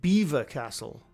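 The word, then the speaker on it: Belvoir Castle: Apparently it's pronounced Beaver Castle.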